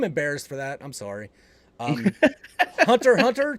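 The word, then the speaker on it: Hunter × Hunter: Hunter x Hunter ×2. By the way, you don't pronounce the X.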